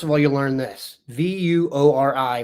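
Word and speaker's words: Vuori: V u o r i pronounced vor.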